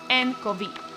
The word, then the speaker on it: nCoV: It is referred to as novel coronavirus or 2019 N Co Vee, pronounced N Co Vee.